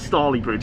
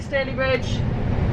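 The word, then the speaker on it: Stalybridge: It's not Starley Bridge or anything, is it? No. It's definitely Staley Bridge.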